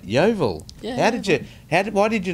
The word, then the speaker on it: Yeovil: That right, Yeovil. Yeah. Why did you not say Yeovil?